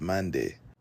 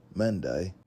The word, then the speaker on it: Mande: Or perhaps when the Europeans made contact with them and asked who they were, the reply that they received was Mande, but the British pronunciation likely came out as Mandai.